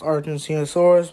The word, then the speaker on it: Argentinosaurus: an Argentinosaurus among them the biggest an it's pronounced Argentinosaurus but uh whatever ever found it's hard to